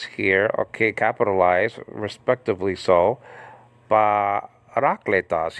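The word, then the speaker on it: παράκλητος: Parakletos, you see the acute marker over the second syllable there? That's where the emphasis should be on, okay? Not you know, above the eta, the emphasis should, you know, the emphasis shouldn't be on clay.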